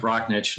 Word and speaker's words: Rocknick: Again, my name is Nick Rocknick, and I represent Dolphin Aviation. Oh, and I mispronounced your name.